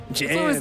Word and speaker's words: Jens: For those who don't know, his first name is Jens, J-E-N-S, but Jans. It's always fun to just call him Yams or Jams. Jans Waller Asgard.